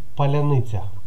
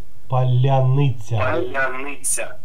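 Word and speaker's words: паляниця: Казахстан украинец Спасибо Привет поляница твердо Нет там твердая произношение смотри Батый Хан но нет боты Или например Батыр батырница как будет полениться ты мягко произносишь твердая твердая поляныця полениться Поляны А вы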